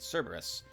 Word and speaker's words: Cerberus: That's how you say it, Cerberus.